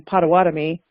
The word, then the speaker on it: Potawatomi: to refer to us by our native name, but would be Bodwe Wadmi for me, or the English pronunciation, Potawatomi.